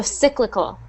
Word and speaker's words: cyclical: see that cyclical so that is pronounced just um again instead of that e sound it's I so cyclical ccal one more time